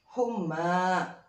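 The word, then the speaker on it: حمى: Nggak usah dibaca. Jadi cukup dibacanya humma.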